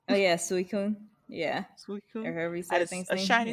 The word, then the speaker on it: Suicune: how do you say it saying oh yeah suicune yeah that is a shiny suicune too i